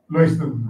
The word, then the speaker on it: Leuchten: Leuchten rhymes with poicht.